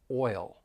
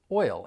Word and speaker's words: oil: I just want to focus on the word oil because it can be a little tricky you have that vowel sound which is a diff thong oi followed by that dark L oil oil and when you put it all together it's still one syllable so let's practice repeat